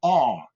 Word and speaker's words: are: Il faut essayer de prononcer ce R comme si vous faisiez un son un petit peu comme le son qu'on entend en Australie lorsqu'il y a les aborigènes qui jouent d'un instrument, ça fait. En fait, le R anglais est plus ou moins similaire à d'accord. Donc, lorsque je dis tu es, je dis you are, you are, you are, you are, ok?